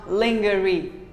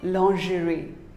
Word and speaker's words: lingerie: mispronounced word lingerie well most of us call it lingerie no it is not lingerie it is actually called lingerie say lingerie long jury what do you